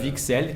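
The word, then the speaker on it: Wicksell: épl le son nom pour personnes qui veent vixel qui s'écrit avec un W W I c K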